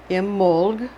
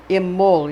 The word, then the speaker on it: Imbolc: bol G pronounced M amoled amoled is how they pronounce it with a slight unstressed vowel between the L and the G which means in the